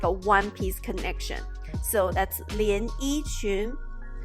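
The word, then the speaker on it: 连衣裙: and the bottom, like this picture, it's called 连衣裙. 连衣裙.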